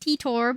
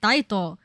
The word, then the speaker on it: Titor: I feel like Taira would be pronounced Titor, but that's just my brain. Actually, I thought it was Titor too, but then the voice actors pronounce it Taito.